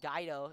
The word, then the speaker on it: Geo: from Geo my apologies Spencer Geo is how you pronounce his name thank you to sania's